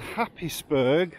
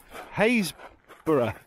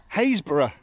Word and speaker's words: Happisburgh: Anyway, we've consulted Google pronunciations, and we can confirm, even though you want to say it's called Happisburgh or whatever, it's Haysborough. Haysborough.